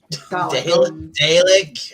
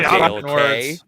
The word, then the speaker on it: Dalek: Hey, Dale K. Words. I'm not British. I don't know how to pronounce things. I'm Canadian. I can barely read. It's pronounced Dalek.